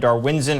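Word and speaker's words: Darwinzon: in Camp is that it is darwinson and not Darwin's on because that's how I've been pronouncing it I kind of enjoy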